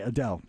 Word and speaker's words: Adele: any momentum I agree chat room saying uh Adel is a good example sorry Adele the word the name I always just mispronounce every the name that Steve literally just